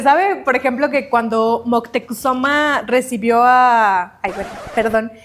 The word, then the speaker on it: Moctezuma: Sí se sabe, por ejemplo, que cuando Moctecusoma recibió a Ay, perdón, esa es la pronunciación. Eh, este, la prehispánica es Moctezuma, pero es Moctexoma, ¿no? Ay, me encanta esa pronunciación.